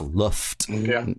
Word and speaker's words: Loft: I know it's spelled loft, but it's Luft Neon, the MVP Range,